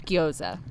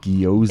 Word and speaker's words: gyoza: And you've told me 10 times what it is, and I still can't pronounce it. Yes. I made an elk sausage guoza. Guyoza.